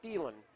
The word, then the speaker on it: Thielen: We've got Thielens and Thielens. They spell it different. Carter, T-H-E-L-E-N. And Matt, third baseman for Dumont. Spells it more like you would see Thielen called, but also pronounces it Thielen.